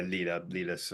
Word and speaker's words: Lilas: What's Lilas her has a name? very Lilas. polished voice. Yeah, Lilas. I mean, it's technically it's Lila, but I'm going to say it how they spell it.